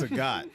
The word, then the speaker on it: Sagat: And it's Sagat. Yeah, like Yeah. I don't. Two different pronunciations. Every time I say cigar, I think of Bob Saget.